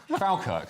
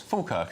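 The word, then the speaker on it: Falkirk: Leo, to your shock, I've been pronouncing uh Fulk, Falkerk. So, uh sorry, Scottish mother-in-law and all my uh Scottish in-laws. Fulkirk, of course.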